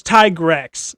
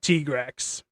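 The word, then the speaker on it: Tigrex: the supposedly correct one It's Tyigrex, not Tigra. It's Legacist, not Lagakru, you know. And I think there's like two others. I Oh, Alatrreion, not Alatrrey.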